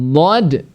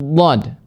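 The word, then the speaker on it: ض: Tetapi di sini kita bahas huruf dhad. Tadi dikatakan bahwasanya jangan sampai dhad ini diucapkan menjadi huruf dal yang ditafkhimkan. Berarti bacanya makhrajnya di sana hanya saja diberi dengan sifat tafkhim. Ya, lo gitu ya.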